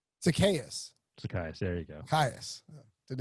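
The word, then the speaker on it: Zaccheaus: the team in fact it was ola miday zacharias former uva who you're so close you got the first name you got the last name wrong zacchaeus psychiatrist there you go didn't have an r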